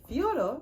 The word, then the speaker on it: Fedor: living legend mr fedor fiora because i just watched an interview and that's how you say it fiora emilia fiore emilienko i'm